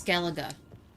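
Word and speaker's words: Skellige: It's Skeleaga.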